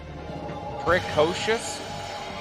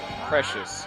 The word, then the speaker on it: precocious: Precocious? Precious. No, because there's a CO. It's spelled the same way as precious, but there's a CO between the PRE and the CIOUS.